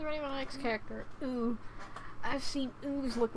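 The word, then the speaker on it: う: It's pronounced ooh.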